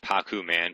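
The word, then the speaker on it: Pakkuman: together the game uh the original title was actually pronounced paku man p a kku and uh it was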